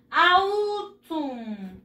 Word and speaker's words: autumn: Otoño en inglés se escribe así. Se empieza con la A. Autumn.